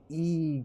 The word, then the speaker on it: Egon: It's Egon gone. Like E, but it's spelled with an I.